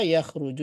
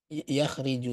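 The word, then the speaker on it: يخرج: Tapi kalau khoroja yakhruju itu yang benar ya. Khoroja jadinya yakhruju. Kalau la'iba yal'abu. Tidak yal'ubu. Yang ini juga tidak yakhriju, tidak benar. Yang benar yakhruju.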